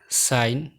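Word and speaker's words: sign: বাক্যের শুরু বা শেষে জি এন থাকলে জি সাধারণত অনুচ্চারিত থাকে, যেমন নম, নার্ল, campaign, rain, foreigner, diaphragm, সাইন, ডিজাইন, রিজাইন।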